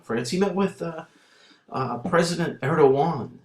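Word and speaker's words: Erdoğan: way over in France he met with President Erewhon it's pronounced Erewhon and do you know who he is a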